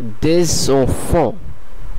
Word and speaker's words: des enfants: এখানে আপনারা নিশ্চয়ই খেয়াল করলেন যে শেষের কনসোনেন্টটি সাইলেন্ট আছে এবং প্রথম শব্দের শেষের কনসোনেন্টের সঙ্গে পরের শব্দের প্রথম কনসোনেন্টের একটি সংযোগ স্থাপন হচ্ছে। তার মানে যেহেতু পরের শব্দের প্রথম কনসোনেন্টটি অথবা প্রথম বর্ণটি এ এবং ভাওয়েল, সেহেতু আগের শব্দের এস এর সঙ্গে এটির একটি সংযোগ স্থাপন হচ্ছে এবং এটি একসাথে উচ্চারিত হচ্ছে des enfants।